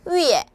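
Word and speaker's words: 月: 월은 발음이 위에, 일은 하오.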